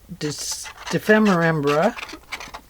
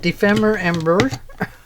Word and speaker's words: ephemera: They're getting ready to do their Ephemera. Oh, I'm saying it wrong. Ephemera.